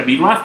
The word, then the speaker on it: BRAF: BRAF, así se escribe, se pronuncia BRAF, pero se escribe BRAF.